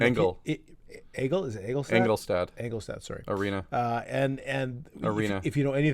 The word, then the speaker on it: Engelstad: It was all of Winnipeg had transplanted themselves into the Ralph Eaglestad. And Engel. Egel? Is it Eaglestad? Engelstad.